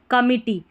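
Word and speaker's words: committee: यहां पर ई है। आई जो है ना यहां पर इसको ई पढ़ना है। आई नहीं पढ़ना है। तो कमी और डबल टी और डबल ई टी। इसको डबल टी और डबल ई को टी। कमिटी।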